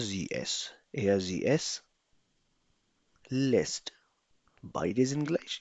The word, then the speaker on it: lässt: Lässt, lässt kommt immer mit A Umlaut. A के ऊपर हमेशा एक umlaut होगा. Darum nennt man das lässt. इसीलिए इसको lässt कहा जाएगा, last नहीं कहा जाएगा.